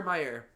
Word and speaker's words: Mayer: So, for those of you confused as to why we're angry and confused, it says Oscar Mayer is spelled with an A and not an E. So it's Mayer.